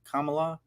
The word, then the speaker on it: Kamala: always get nervous now how do you say her name every everyone keeps arguing about it I know your friend Nancy was I Kamala Harris for her entire career but we learned this week it's Kam Kamala Kamala I'm not trying